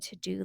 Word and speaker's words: Teuxdeux: I do keep a running to do list on my phone. I have an app called To Do. It's spelled Teuxdeux, like the French type spelling.